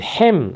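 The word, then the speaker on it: Ham: 신화가 동원되었다 신학자들은 아프리카인들이 노아의 아들인 햄 함이라고 이제 보통 그죠 기독교에서는 영어 발음으로 했나 봐요 영어 발음 함의 자손이라고 주장했다함은 그 아버지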